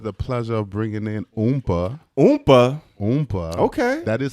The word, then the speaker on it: Oompa: okay I have the pleasure of bringing in oompa oompa okay that is how they pronounce the name right that's it I mean